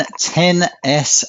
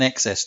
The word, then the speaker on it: XS: up on an iPhone 10s Mac's not an XS Julian it's a 10 s I will note that